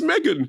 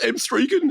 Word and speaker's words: M3gan: It's pronounced Megan. It's not pronounced M3gan, it's pronounced Megan.